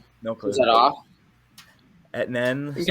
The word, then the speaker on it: Etienne: But I'm going to butcher this name, but Travis Etienne, I think is how you pronounce it. No clue. Is that off? Etienne? I think it's Etienne.